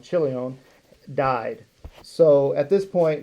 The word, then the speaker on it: Chilion: So Chilion, kind of sounds like chili, and Malon.